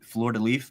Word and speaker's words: fleur-de-lis: What was the thought process of putting the fleur-de-lis? Is that fleur-de-lis? Fleur-de-lis. Okay. Does not pronounce the last little bit. That's what they hit me with that. They just have some letters they don't quite pronounce.